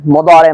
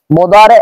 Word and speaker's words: মুদারে: রয়েছে বহাস ইসবাত ফেলে মুদারে মারুফ। অনেকে আমরা একটা দ্বিধাদ্বন্দ্বে থাকি, আচ্ছা উচ্চারণ কি মুদারে না মুদারা, মুদারে মারুফ নাকি মুদারা মারুফ? সঠিক হলো মুদারে মারুফ হবে, মুদারা মারুফ এরকম কোনো উচ্চারণ নেই। আশা করি বিষয়টা স্পষ্ট হয়েছে।